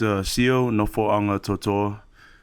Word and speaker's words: Sio Nofoagatoto'a: Yeah, it's Sio Nofoagatoto'a. So our G kind of sounds like an N in our language.